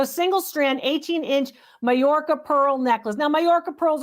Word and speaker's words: Majorca: Uh, and it's called Mayorca actually to pronounce it properly.